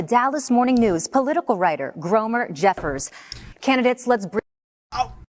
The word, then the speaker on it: Gromer: And from the Dallas Morning News, political writer Gromer Jeffers. Candidates, let's bring... Oh, wait. I'm sorry. His name is not Gomer Jeffers. It's Gromer Jeffers?